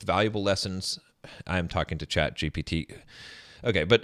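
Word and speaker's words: ChatGPT: I saying it right am I saying chat GPT I just want to make sure here because I know I said it okay because I was saying chat GTP in another video and people were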